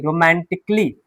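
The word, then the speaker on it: romantically: समझ में आ जाएगी कि ICALLY में जो ए है वो साइलेंट होता है।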